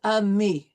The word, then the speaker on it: amis: So we will not pronounce the S. Mes amis.